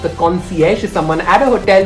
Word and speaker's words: concierge: in a hotel guys remember that you need to contact the concierge for any recommendations and not the concierge very commonly mispronounced the concierge is someone at a